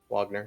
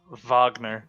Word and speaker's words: Wagner: __ ] no yeah wagner yep now caius is a uh roman name though wagner not wagner wagner they've not said the v yeah that's why uh